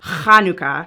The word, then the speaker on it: Hanukkah: but it doesn't matter pronounce it properly kanuka and you're good two why do people